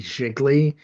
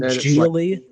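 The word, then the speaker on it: Gigli: to watch that movie jiggly that like she's in she and Ben affle Oh you mean jiggly it's pronounced like really oh I didn't know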